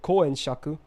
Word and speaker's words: Huyan Zhuo: We got Huyan Zhuo, or how I like to call her is Koen Shaku, because I can't do Chinese pronunciation. That's the Japanese way to read her name.